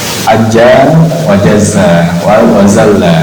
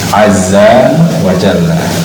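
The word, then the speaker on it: عز وجل: Jangan salah ucapannya, jangan Ajza wa Jazza wa Zalla, enggak. Tapi Azza, Ain, Zal, Jim, Lam. Azza wa Jalla.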